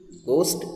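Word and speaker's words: ghost: Crime stories, गोस्ट stories, ध्यान दीजिएगा, इसको घोस्ट नहीं पढ़ते हैं, इसको गोस्ट पढ़ते हैं, ठीक है। यहाँ पर एच साइलेंट है, घोस्ट नहीं होता है, गोस्ट होता है, ओके।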